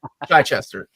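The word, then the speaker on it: Chichester: Chai Chester from the Bronx and he's like Chai Chester well that one I know specifically because I asked him how he pronounced his name and he told me Chai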